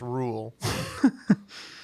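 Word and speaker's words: Reuel: Uh, we said Baolf by John Ronald Rule pronounced Rule.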